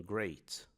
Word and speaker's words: great: Nesse caso, a gente tem um encontro de e com a, mas a pronúncia é a, como em great.